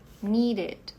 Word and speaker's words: needed: To need, needed. Bom, aqui nós terminamos em D, então precisa pronunciar esse E também.